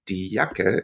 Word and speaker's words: Jacke: One thing to bear in mind, as English speakers, our brain will tell us, don't pronounce that E on the end, it is silent. However, in German, there is no such thing as a silent letter.